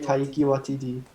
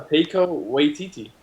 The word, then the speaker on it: Taika Waititi: it's like Taiki Watiti. No, Taika Waititi.